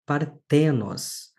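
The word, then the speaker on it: παρθένος: É o caso de partenos. Partenos significa moça jovem, virgem. Nós vamos ter a acentuação do agudo na penúltima sílaba, chamamos isso de paroxítona.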